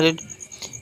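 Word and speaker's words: read: रीड, रेड और रेड ना, रीड, रेड same होता है रेड, लेकिन फर्स्ट फॉर्म को रीड पढ़ते हैं, सेकंड और थर्ड फॉर्म को रेड पढ़ते हैं।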